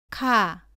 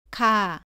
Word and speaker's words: 카: 발음은 가와 비슷한데 공기를 많이 내보내면서 발음합니다. 따라해 보세요. 카, 카.